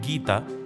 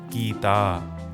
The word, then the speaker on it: Geeta: For example, the name Geeta would in fact be Geeta. Gauri should have been Gauri and Prabha should have been Prabha.